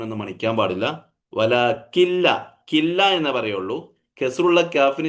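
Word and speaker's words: وَلَٰكِن لَّا يَعْلَمُونَ: വലാകിൻ ലാ യഅലമൂൻ എന്ന് മണിക്കാൻ പാടില്ല. വലാകില്ല, കില്ല എന്നേ പറയുള്ളൂ. കെസ്റുള്ള കാഫിന് ശേഷം പിന്നെ എന്തേ ഉച്ചരിക്കുള്ളൂ? നൂൻ ഉച്ചരിക്കാൻ പാടില്ല. പിന്നെ എന്താ ഉച്ചരിക്കാൻ പറ്റുള്ളൂ? ഷദ്ദുള്ള ലാമേ ഉച്ചരിക്കാവൂ. വല കില്ല, കില്ല കില്ല എന്നേ ഓതാവൂ.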